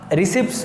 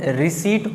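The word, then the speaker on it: receipt: अभी हाँ, अगर एकदम देसी लैंग्वेज में आप इसका प्रोनाउंसिएशन करोगे तो हम रिसिप्ट रिसिप्ट रिसिप्ट पीटी, वो जो टी है वो प्रोनाउंस करेंगे, लेकिन एक्चुअल में उसका प्रोनाउंसिएशन रिसीट होता है, रिसीट, ठीक है।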